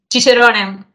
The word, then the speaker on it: Cicerone: Where, if you come along to have a look at the, pronounce that for me, what's the name of the board? The Cicerone.